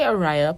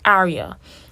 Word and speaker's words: Arya: and i've been hearing it's all it's arya so if i say ariah please don't don't yet don't get too pissed but it's arya um and i'm not entirely